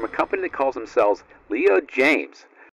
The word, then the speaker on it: Leo Jaymz: a new brand for the channel it's called Leo James it's spelled j-a-y-m-z a bunch of products on Amazon